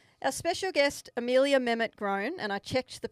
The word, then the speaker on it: Mehmet-Grohn: Our special guest, Amelia Mett Gron, and I checked the pronunciation to get that right.